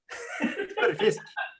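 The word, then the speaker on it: tørrfisk: Törrfisk. Törrfisk. Okay. Törrfisk. We got to roll the R. Yeah. Oh, not really, but. Okay. Törrfisk.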